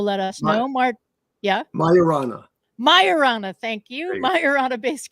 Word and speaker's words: Majorana: show Claim about achieving a major Milestone with majana and I should have figured out how to pronounce this before uh Andy will let us know Mar yeah Mayana Mayana thank you myana based cubits that could